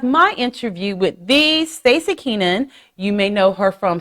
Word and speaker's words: Keanan: It is Stacy Keenan. Is it Kenan? That's how I've always pronounced it. Kenan. Yeah, that's right.